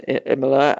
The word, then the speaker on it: Imola: Yes, Imola. Yeah. I'm happy I pronounced that one right.